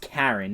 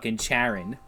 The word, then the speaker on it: Charon: distant planet okay today I learned that it's pronounced Karen not Charon that I would always call it [ __